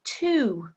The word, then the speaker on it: two: Number 5, two, silent W, good.